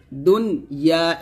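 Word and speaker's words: دنيا: তো দেখুন এখানে নুনের নিচে কিন্তু জ্যান নাই, নুনের উপরে সাকিন আছে, তো সাকিন উচ্চারণ করবেন ক্লিয়ার করে, দুনিয়া।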